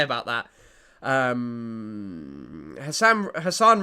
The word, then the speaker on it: Hassan: Um Hassan Hassan rhymes with Hamas.